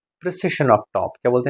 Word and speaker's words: precession: something like this, PRE की PRIC something था, प्रेसिशन जो हमने पढ़ा था इंस्ट्रूमेंट्स का, ये वो